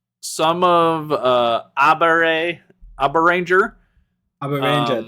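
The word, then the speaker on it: Abaranger: Abber Ranger, that would be how you pronounce it.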